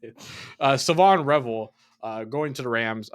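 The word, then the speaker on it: Shavon Revel: No, the H is silent. Dead ass. Savon Revel.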